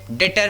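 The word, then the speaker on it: debtor: सर इसमें तो डेबिटर लिखा हुआ है, आप डेटर पढ़ रहे हो, बी साइलेंट है, आप इसे डेटर पढ़ सकते हैं, अदरवाइज जैसा आप प्रोनाउंशिएट करना चाहें जिसमें आप कंफर्टेबल हो। अदरवाइज बी यहाँ साइलेंट है, डेटर इसे पढ़ा जाता है।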